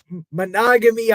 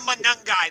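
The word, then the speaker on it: Monangai: Uh Monogamy, I forget to say his name. Oh, Kyle Manungai.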